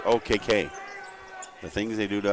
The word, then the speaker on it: Okeke: It's spelled Okeke, but it's pronounced OKK.